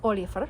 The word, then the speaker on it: Olafr: So I went with Olafr, which sounds more like Oliver.